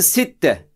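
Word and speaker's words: ستة: gelelim 6'ya 6'da arkadaşlar Arapça Sitte bak okunuyor ters 7 şeklinde yazılıyor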